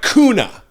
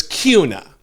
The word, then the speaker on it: Kuna: which by the way is not Boise it's pronounced boisey and it looks like kuna but it's Cuna anyway these these towns exist everywhere I don't